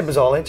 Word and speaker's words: Buzolic: get it right cuz I know people butcher your name b bich or bolich bich can I just say bolich you can say bolich it's it's all I've